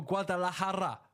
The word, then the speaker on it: Guadalajara: Straight out of Mexico, Guadalajara, if that's how you pronounce it. That is correct. Perfect pronunciation.